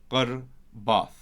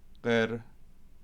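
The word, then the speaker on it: ܩܪܒܬ: And then that tacha that's here gets pushed back and becomes qarbath. And Easterners put that. Qarbath. She drew near. So if I also do that again in Western script, you've got qara'u, and then for she drew near, qirbath.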